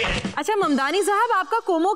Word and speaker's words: Mamdani: The name is Mamdani. M-A-M-D-A-N-I. You should learn how to say it. अच्छा ममदानी साहब, आपका कोमो के साथ अब कैसा रिश्ता है?